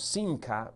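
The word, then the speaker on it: שמחה: Aú esa palabra gozo, hay una palabra hebrea en el original que fue escrito, la escritura se pronuncia más o menos sinca.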